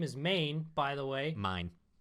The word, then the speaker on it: Main: main by the way mine it's spelled main though but they saved mine cuz they're Japanese mine she calls mine flat